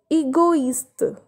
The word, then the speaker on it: égoïste: The next example is égoïste. Égoïste, which means egoist. Here we are pronouncing O and I separately.